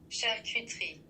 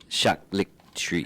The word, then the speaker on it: charcuterie: This is how it's pronounced. Charcuterie. Charcuterie.